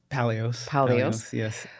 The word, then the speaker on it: Paleos: Paleos. Is that how you pronounce it? Yes. Paleos or Paleos? Paleos, yes.